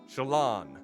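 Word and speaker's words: slán: or safe journey home one dialect would pronounce it as SCH Shalon so like lawn with an S at the end schan okay I feel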